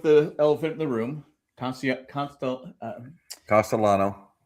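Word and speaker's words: Castellanos: Let's just start with the elephant in the room, Castellano. Castellano. But some people don't pronounce the L, I guess.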